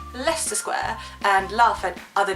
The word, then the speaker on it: Leicester: I'm feeling really proud that I can say leester square and laugh at other German tourists who do not know how to pronounce it so the next one just says